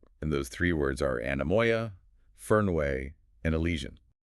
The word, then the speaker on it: anemoia: Let's start with anamoya.